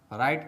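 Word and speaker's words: right: दोस्तों यहां भी ध्यान देने वाली बात यह है कि आई के बाद साइलेंट लेटर जी एच आता है। इस प्रकार से आप राइट का भी स्पेलिंग लिख लेते हैं।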